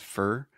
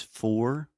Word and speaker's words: for: because it actually said fur but most language teachers will tell you the correct pronunciation is for like or more Etc but a lot